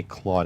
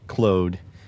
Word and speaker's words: Claude: I have to say Claude. I have to say it like that because people make fun of me for saying Clo because Clude is the way I know it.